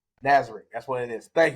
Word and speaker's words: Nazarick: Because of the Floor Guardians, I am trying not to butcher the actual name of the place. It's Nazareth. Nazareth.